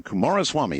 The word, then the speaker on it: Coomaraswamy: Kumaraswamy, is that the correct way to say Beautiful.